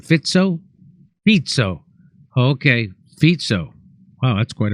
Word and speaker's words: Fico: So this 71-year-old man, oh, you pronounce his name Fitzo? Fitzo.